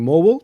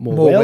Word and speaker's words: Morwell: We should be saying Morwell, not Morwell. Morwell.